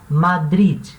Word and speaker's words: Madrid: eu moro em madri lembrando que cidade de madrid em espanhol termina mês ideia tá esse de ele não é muda ele pronuncia tá madrid madrid tá ele é